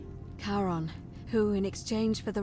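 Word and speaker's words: Charon: name you heard wasn't Karen it was c h a r o n as in Caron the ferryman of the Dead karon who in exchange for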